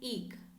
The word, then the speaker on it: eke: is eek something out the pronunciation is eek let's read the topic again this is bad news for retailers trying to eke out their earnings this